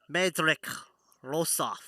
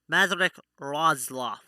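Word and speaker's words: Madryck Roslof: Medric Rosoff. Madrik Rozloff. That's how it's pronounced.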